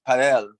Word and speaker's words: padel: I just didn't pronounce it the way the US, he says Padel.